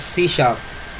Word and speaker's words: C#: तो सी शार्प is pronounced as सी शार्प, okay. ये शार्प यहाँ पर ये सिंबल दिया हुआ है, उसका प्रोनाउंसिएशन शार्प इस तरह करेंगे हम, सी शार्प, ठीक है।